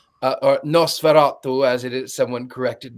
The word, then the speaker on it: Nosferatu: Also, what I find fascinating is that the director in an interview said that before filming Nosferatu, or Nosferatu, as it is, someone corrected my pronunciation, he actually watched Dracula Dead and loving it.